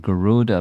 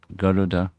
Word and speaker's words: Garuda: Then this discussion with Garuda, not Garuda, but Garuda. He's training me, pronounced properly.